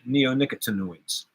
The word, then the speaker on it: neonicotinoids: stop using the neonicotinoids that's the way I say it you say it Naomi and I say it neo nicotine noise because nicotine is the root word of it I know that neo means new so you have a new nicotine noise oh I'm putting the emphasis on the co and I should be putting the emphasis on the neo nicotine nicotine you're still